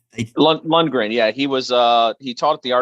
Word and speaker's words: Lundgren: And you tutored under, and is it Carl Lundgren? Did I pronounce it incorrectly, or Lundgren? Lundgren.